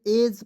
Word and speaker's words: edge: इसे ईडीज पढ़ लेते। इसे क्या पढ़ते हैं? एज पढ़ते हैं।